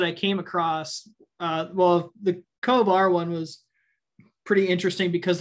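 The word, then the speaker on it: covr: There was one done by generics, and then I think it's Cove R, I think is how you pronounce that.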